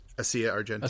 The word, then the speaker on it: Asia Argento: Asia Argento.